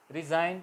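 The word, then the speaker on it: resign: साइन इतना रिजाइन इस्तीफा रिजाइन गण होगा मगर बोला एन जाएगा रिजाइन जी साइलेंट फौरन फौरन कंट्री में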